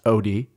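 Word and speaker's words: Oatie: O-A-T-I-E-O-T, but pronounced Odie. Odie Meal, like oatmeal.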